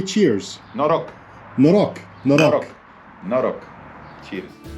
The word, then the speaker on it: noroc: Noroc.